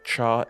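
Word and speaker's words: 茶: character was pronounced as Char in some dialects most noticeably in Mandarin and Cantonese two of China's most popular forms it was not pronounced as Char in all forms of Chinese a prime example of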